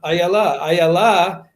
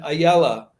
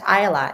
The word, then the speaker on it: Ayala: take the case of ayala as she has reminded me her name is pronounced in the hebrew way with the emphasis on the last rather than in the yiddish pronunciation ayala or versus but i